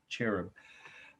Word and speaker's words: cherub: see it there right cherub some see some people pronounce it ch with a hard ch cherub it does not even